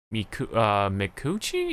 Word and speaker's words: Micucci: It is Micucci. Oh wow, oh wow, I pronounced it right. Cause look at the official pronunciation, Micucci.